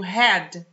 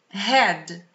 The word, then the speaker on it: head: Head. Head. Head é cabeça. Rima com bed, que é cama.